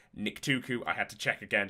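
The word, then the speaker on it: Nictuku: of a uh that a Nik tuuku I had to check again to make sure I pronounce correctly a Nik tuuku uh would was is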